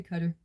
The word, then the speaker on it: Qatar: I still call it the Emirates, but I got in trouble for calling cutter cutter instead by a guy in the military. He said I wasn't saying it right, but my students always saidQatar, so I don't know. He said I was stationed there uh in the military. We say Qatar.